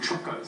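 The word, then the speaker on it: Txokos: It's a gastronomical society, so there's actually societies called Trocos. It's spelled T-X-O-K-O, and they're solely set up.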